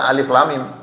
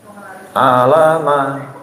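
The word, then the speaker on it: الم: nggak butuh guru kemudian dengan bangga baca alif lam mim. Alama. Nggak butuh guru dia. Itu kan tulisannya alama. Betul apa betul? Tulisannya alama. Padahal itu bacanya alif lam mim, bukan alama.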